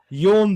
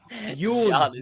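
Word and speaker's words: Jon: Ma, this is not how they say his name. His name is Yun. That's his real name. The man name is John. Yun, not John.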